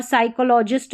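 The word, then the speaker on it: psychologist: और साइकोलॉजिस्ट में भी P साइलेंट है, ठीक है।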